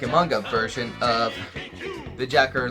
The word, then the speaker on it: JAKQ: Cur d g or J AKQ is pronounced Jacker and a mission to